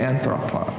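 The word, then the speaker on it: ἄνθρωπος: The accent is on the O, but some of them it's on the on, and I probably did that inconsistently.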